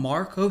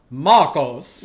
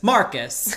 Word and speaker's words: Markos: And there's this schism between some support Markos. Yes. Or there's that one woman who says Marcus. And it throws me, I'm like, no, coach her on how to say this.